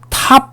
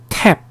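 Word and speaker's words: tap: A 다음에 단독으로 자음이 왔죠? 어떻게 발음하라고요? 애 발음을 하다라고 얘기를 했습니다. 애 발음을 하라 이렇게 얘기를 했습니다. 그래서 발음하면 어떻게 돼요? 그렇죠. 탑이 아니라 탭 이렇게 발음해 주시면 됩니다.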